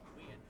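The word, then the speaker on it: Weend: How do you pronounce her last name? Rita. Weand.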